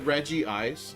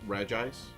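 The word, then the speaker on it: Regice: the reggies all right regie eyes which is such a dumb pronunciation to isn't it Reggie ice even though it's just reg ice but in order for it to be consistent with Reggie Rock and Reggie steel they go Reggie ice like they pronounce the eye twice as if there were two eyes I got to look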